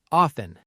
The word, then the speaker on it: often: Often in a sentence, I often drink tea in the morning.